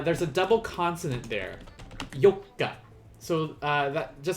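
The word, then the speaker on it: 四日: it's gonna be yoka there we go and just like before remember you uh there's a double consonant there yoka so uh that just like with mikka you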